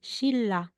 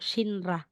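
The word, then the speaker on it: 신라: lagay na natin sira so ang pagbigkas natin diyan shilla Hindi po shinra Sha same pa rin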